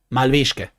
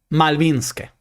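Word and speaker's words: Мальвинские: ¿Y cómo se dice Malvinas en ruso? Malvishke, ¿no? Malvinske, perdón, perdón, perdón, perdón. Malvinske, pero la Unión Soviética tenía ahí algunos conflictos.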